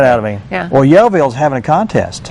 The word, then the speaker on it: Yellville: Yeah. And they're I'm glad you said Yellville, not Yellville, yelling your Raynard. Yellville. I could, Well, we always say Yellville, and people say, how do you spell that? So sometimes I say Yellvull, just like it sounded, because, they're smart. I bet, well, do you how you say it's Yellville? Just like it's Fayetteville.